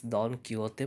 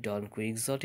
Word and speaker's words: Don Quixote: famous novel don quixote of seventies original spanish pronunciation is don quixote perhaps but in english we call it don quixote if you don't trust me look at the